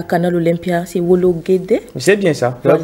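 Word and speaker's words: Wologuèdè: la clôture auront lieu à Canal Olympia, c'est Wologede. C'est bien ça, voilà. Là, vous prononcez si bien. Voilà, Canal Olympia, Wologede.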